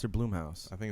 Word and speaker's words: Blumhouse: And Is it Blumhouse or Bloomhouse? I think it's Blumhouse. It's spelled like Blumhouse. B-L-U-M, But right? that's, I mean, some people pronounce that Bloom Bloom.